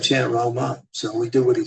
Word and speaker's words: राम: तो But if you chant Ram, I mean that's okay. अगर आप राम करते हैं chant Rama, it's better.